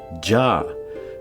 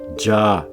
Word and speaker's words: jaw: are as swords, and notice it says their jaw teeth, I-A-W, jaw. It's not their ya teeth or ayah teeth, it's their jaw teeth.